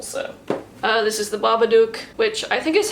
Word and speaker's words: Babadook: characters keep pronouncing it baba duke i always thought it was supposed to be like babadook like a book because he comes from